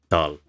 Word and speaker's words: Tal: because aspirated consonants in German used to be written with an H at the end of it. So there has been a spelling reform. Tal is no longer written Tal, but it is still pronounced Tal.